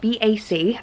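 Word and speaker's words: Bač: So we're going to an island called Bac today, which is spelled B-A-C, but it's pronounced Bac, and it's supposed to be one of the most beautiful islands.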